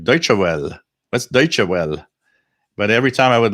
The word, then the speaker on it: Deutsche Welle: What's Deutsche Welle? But every time I would listen to them, it was like Deutsche Welle. Oh, that's how you pronounce that word.